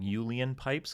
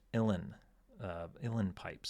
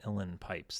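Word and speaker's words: uilleann pipes: YouTube pointed out that I I was saying Ulen pipes because that again that's what it looks like. Um but it's pronounced illen pipes. So Eugene Daly had a set of illen pipes that he played on board.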